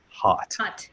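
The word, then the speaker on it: Haught: characters last names is H a ugh T right is pronounced hot yes officer hot but and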